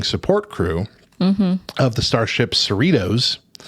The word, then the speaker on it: Cerritos: crew of the Starship Cerritos rhymes with Fritos or Doritos in the 24th century